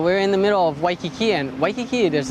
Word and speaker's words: Waikiki: Even if it's at the beginning of a word, it's still a W sound. Nobody pronounces it Waikiki. So we're in the middle of Waikiki, and Waikiki, there's like a lot of development.